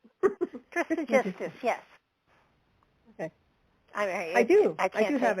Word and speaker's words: Trismegistus: Trismegistus, yes.